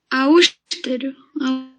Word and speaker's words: austero: Agora, a próxima palavra, a pronúncia tem um E aberto, tá? Pode pronunciar. Austero.